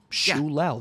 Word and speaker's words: Shou-Lao: I thought it was Shiao, but it's apparently it's Shoul the undying. I don't Yeah, they that's how they pronounced it in the dev video, which by the way,